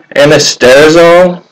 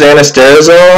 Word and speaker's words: anastrozole: Your other options are anastrozole, which comes in a research chemical.